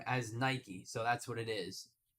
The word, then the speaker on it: Nike: foreign r b j d 5836 Lulu it's Nike that's how they pronounce it buddy you're gonna get timed out if you keep talking about it exactly Ryan the brand says their own name as Nike so that's what it is it's period Point